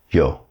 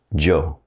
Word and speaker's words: yo: The Spanish word for I is yo. It could be pronounced like yo or Joe depending on where you're at.